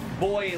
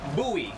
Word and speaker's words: buoy: Oh, no, not boy like a young man. No. Boy or buoy. You can say it both ways.